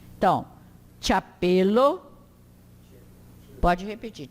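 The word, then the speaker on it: ĉapelo: Pronuncia como TCH, diante de qualquer vogal. Então, chapelo, pode repetir, chapelo, chevalo, tilio, chocolado.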